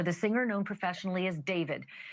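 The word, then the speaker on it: d4vd: That fact has got to be hitting home tonight, literally for the singer known professionally as David, spelled D4 VD. I know it's strange, but it's pronounced Dave.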